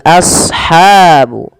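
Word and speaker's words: أصحاب: Kemudian pada lafal ashabu, sadnya tebalkan as, jangan ashabu, jangan sin, tapi dia huruf sad sesuai dengan makhraj dan sifatnya.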